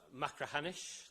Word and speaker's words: Machrihanish: The third case I want to look at is Machrihanish. That's how you pronounce that word, if you were wondering.